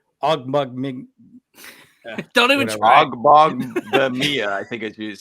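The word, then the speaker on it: Ogbongbemiga: It's Ogbongbemia. Oh, is it? That's how you say it. That's how you pronounce it. Yeah. Ogbongbemia.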